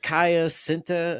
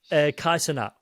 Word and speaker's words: Kai Cenat: fan base will fucking eat me alive for mispronouncing Go, his go, go. shit. But Kaya Sinta or Kaya Sin, you know what Oh, I'm saying? Kai Cenat.